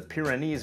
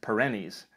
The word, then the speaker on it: Pyrenees: i guess that's like the time i referred to the pyrenees mountains as perennis a region that spans